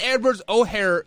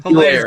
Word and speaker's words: Hilaire: Clyde Edwards-O'Hare, or how you say his name, Hilaire.